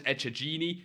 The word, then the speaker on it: Echegini: Again, what's really annoying about this Echegini, that's how you say her name, don't ask questions, is that, you know, she's got a 15,000 coin price range as well.